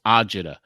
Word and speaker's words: agita: just he was out agita is what they say in Italian it's ajita which means it's indigestion that